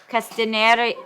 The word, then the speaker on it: Castaneda: Castaneda how do you say your last name como a pronounced upstairs robbery though Castaneda mr.